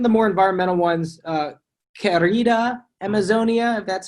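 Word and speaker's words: Querida Amazonia: it's one of the more environmental ones uh kerrida amazonia that's how you pronounce it in which he looks at the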